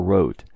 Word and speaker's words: Wriothesley: After the N and Y, the next large letter is the double V spelling wrought or wrote, the pronunciation of Wriothesley's abbreviated last name.